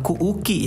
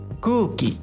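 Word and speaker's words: くうき: Pelafalannya hati-hati, bukan ku uki ya. Bukan ku uki, tapi pengucapannya gini. Kuki. Kuki.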